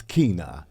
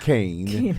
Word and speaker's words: Keyne: we say it right it's Kina Kina it's not Kane it's not Kanye it's Kina it's Kina yes k